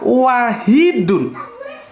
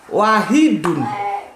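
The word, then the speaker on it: واحد: sungguh Tuhanmu benar-benar Esa wahidun inilah ya di sini tulisannya wahidun tapi kita baca Wahid jadi begini ada sesuatu yang itu tertulis tetapi tidak dibaca tulisannya wahidun tapi kita bacanya Wahid tulisannya ahadun damita baterainya Ahad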